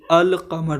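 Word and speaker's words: القمر: अलिफ लाम ज़ाहिर हो, जैसे अल कमर लिखते हैं तो अलिफ लाम ज़ाहिर हो रहा है तो ये होता है कमरी हरूफ।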